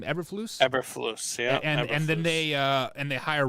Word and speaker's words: Eberflus: Eberflus, yeah.